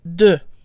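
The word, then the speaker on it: deux: follow the same pattern the final letter is silent unless followed by a vowel so 21 on its own is pronounced do do with a silent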